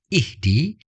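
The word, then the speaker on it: اهدِ: tidak diberi harakat dan kaidah untuk membacanya adalah Alif dibaca kasrah ihdi karena huruf ketiganya bukan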